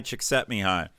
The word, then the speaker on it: Csikszentmihalyi: I think it's Hungarian, and it ends up being pronounced something like Mihai Csikszentmihalyi, which, God bless you, anybody who can spell that.